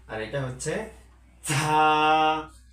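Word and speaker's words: ز: ঝায়ের ক্ষেত্রে একটু উচ্চ সুরে বলতে হবে, যেরকম ঝা ঝা। যেমন র ঝা, র ঝা। এটা এটা হচ্ছে র আর এটা হচ্ছে ঝা ঝা।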